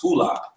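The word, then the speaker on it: φυλή: it's pronounced phula Mhm. in the Greek, and it says a tribe.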